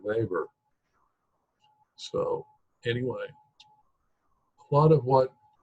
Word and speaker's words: Weber: slip and call him lever but in German the W's are pronounced like a BA Weber so anyway part of